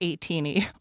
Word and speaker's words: ATINY: is 18y I know it says atiny it's pronounced 18y also terrible like what it doesn't I mean